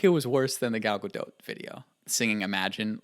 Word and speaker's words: Gal Gadot: that you know what her name is pronounced gal gadot i had no idea i was saying it from cal Godot for the longest time and then I watched